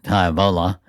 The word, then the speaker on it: Tivoli: And back in those days, once you left Highway 35, the Tivoli Bridge, and the locals pronounce it Tivola.